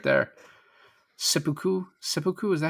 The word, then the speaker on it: seppuku: Seppuku, is that how you say it? Seppuku.